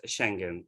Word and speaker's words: Schengen: It is spelled as Schengen, pronounced as Schengen, or others say Schengen.